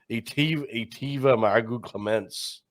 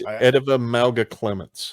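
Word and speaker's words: Eteva Mauga-Clements: I wasn't expecting was Etiva Margaret Clements. However you say his name. It's Ediva Malga Clements.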